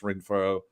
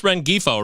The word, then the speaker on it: Rengifo: I really like Luis ringfo uh if you need um you talk about Luis rengifo right because yes I I do not pronounce the G I don't know why